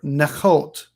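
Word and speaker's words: נכאת: o h t h with the accent on the last part of the word nachot this is possibly it's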